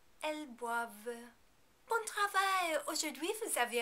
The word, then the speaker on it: boivent: In the il and elle plural form, we do not pronounce the final NT because there isn't a vowel after it. Ils boivent. Elles boivent.